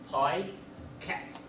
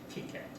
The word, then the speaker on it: Picat: also the pronunciation okay there is a standard pronunciation which is p cat yeah so many people pronounce it pat actually I used to